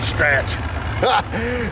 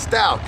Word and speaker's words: Stout: Because I don't want to say Stratch. It's Stout. Stout. H is silent.